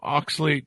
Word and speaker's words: oxalate: now oh wow wow so this did I pronounce it right oxalate oxalate very good so how oxalate overload is making you sick uh you know